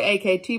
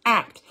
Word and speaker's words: AKT: Now, I call it AKT, but I think it's actually pronounced ACT.